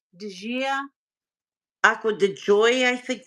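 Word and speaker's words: Acqua di Gioia: It's not Di Gio, it's the female. Di Gia.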